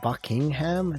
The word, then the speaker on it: Buckingham: you know it's just buckingham instead of bucking ham at the end it's not ham at the end it's just all one word and that lovely brown